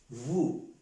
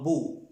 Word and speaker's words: vous: Vous se pronuncia como en el español vous, no bu, no es bu, porque si pronunciamos vous, no nos van a entender nada.